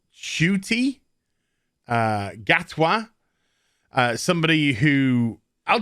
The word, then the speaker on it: Ncuti: next doctor who's going to be what i mispronounced as in cutie it's actually pronounced shuty uh gatwa somebody who i'll just be completely